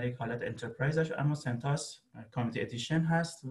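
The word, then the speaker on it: CentOS: کلاود لینوکس او اس و سانتوس یا سنت او اس، هر دوتا تلفظ رو من شنیدم، سنت به معنی کامیونیتی انترپرایز هست، او اس هم معنی اپراتینگ سیستم، ولی خب سنتوس سنتوس خونده میشه.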